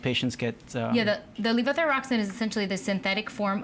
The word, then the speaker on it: levothyroxine: with this these new procedures and medications so level thyroxine did I pronounce that right perfect that's sort of the generic brand for a synthetic hormone correct that most patients get you know the levothyroxine is essentially the synthetic form of t4 which